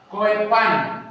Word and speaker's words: Koepan: Iya naik ya naik koepan ya Kenapa dia nama koepan ya ejaan dulu O dengan E itu dibaca u ya Sehingga bahasa ini